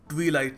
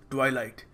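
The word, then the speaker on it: twilight: ट्वाइलाइट मेरे भाइयों और बहनों, ये ट्वीलाइट नहीं है, सो कभी इसको ट्वीलाइट मत कहना, इट इज़ ट्वाइलाइट।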